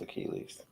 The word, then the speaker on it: Achilles: He really didn't know it was Achilles.